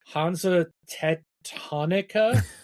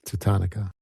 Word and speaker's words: Hansa Teutonica: Um, and I'm probably going to pronounce this wrong, but Hanza Tetonica. Yeah. Did I say that right? Tatonica. Tatonica. Hanza Tutonica.